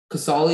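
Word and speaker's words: Casale: uh can i have all the information please casoli is the only pronunciation it's a noun it comes from an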